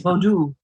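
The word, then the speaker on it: Vodou: You mentioned, you pronounced it differently than I'm used to hearing it. Voodoo from Haiti. Vaudou. How do I say it? Vaudou. Thank you. I call voodoo the Hollywood name, right?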